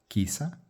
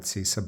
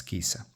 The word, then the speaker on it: Cisa: Anyways if you read this in Italian it's kisa.